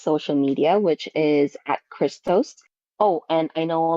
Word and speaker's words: KRYSTOAST: name is Crystal so it's Chris and uh toast so Christos um that's where you'll